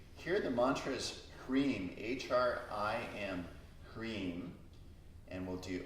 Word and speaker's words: Hrim: Here the mantra is Hrim, H-R-I-M, Hrim, and we'll do Om Hrim.